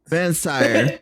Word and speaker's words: Vansire: Well, Vansire. That's how you pronounce the E with the accent.